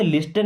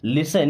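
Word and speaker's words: listen: okay लिसन carefully अब इस लिसन word में टी साइलेंट होता है इससे क्या पढ़ते लिस्टन नहीं लिसन मीस सुनो केयरफुली मीस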